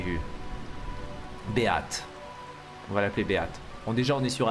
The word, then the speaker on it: Beate: Mais je vais l'appeler Beat. Même si c'est Beat qu'il faut prononcer en anglais, B-E-A-T-E, ça se prononcerait comme ça.